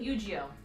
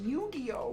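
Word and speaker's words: Yu-Gi-Oh!: killed the conversation i'm sorry i didn't dueling eugeo we will keep an eye out for you it's pronounced yu-gi-oh yu-gi-oh excuse me i'm sorry i know better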